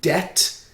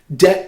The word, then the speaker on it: debt: it with the acronym debt d e silent b t debt prevents any damage that